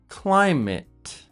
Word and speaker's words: climate: The first word is chocolate and climate. These are nouns or concepts or things, so that ATE is pronounced it.